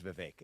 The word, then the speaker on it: Vivek: you for saying my name correctly it is Vivek so here's what I will say I think